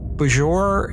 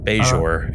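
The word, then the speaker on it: Bajor: Beijour is how they that's how they say in the rest of the show is be but he said bajour so I'm following the picardian you're sticking to the picardian pronunciation but yeah you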